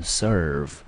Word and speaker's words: serve: 好， serve 这个字呢很清楚的 e，它在一个字的字尾不当一个音节，只有看到 er，所以它母音呢 er 就念成 er，所以这个字呢我们全部单音节念成 serve serve。